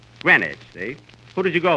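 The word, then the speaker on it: Greenwich: yesterday in green witch Village Kenny that's not green witch you see here in New York it's pronounced grenwich grenage see who did you go with Johnny Gren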